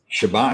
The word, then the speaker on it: Chebat: Jimmy, is it Chebat? Chebat, yeah, you said it right.